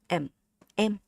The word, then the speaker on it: em: Yeah, it's short M. M. The difference between this word and the M. If you want to say this in the more like Vietnamese accent, keep your tongue flat, okay? Keep your tongue super flat, super relaxed, everything relaxed. Your tongue, your lips, your teeth relaxed. M. M is English, but M is Vietnamese. Short, straight, and very clear.